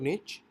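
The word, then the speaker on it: niche: निश मींस आप इसको इस तरह से प्रोनाउंस कर सकते हैं, निश और निच।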